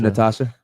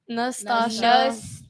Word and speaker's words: Nastasha: Go ahead, What about you, Natasha? Nastasha.